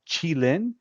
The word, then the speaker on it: Qilin: Then we have this one is actually pronounced Qilin, and ironically, Qilin is a mythical creature often seen as a symbol of peace or prosperity.